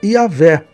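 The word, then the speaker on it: Yahweh: Está o nome de Deus, que normalmente se pronuncia Yahé.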